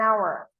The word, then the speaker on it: hour: Like an hour. An hour. It starts with H, but the pronunciation hour.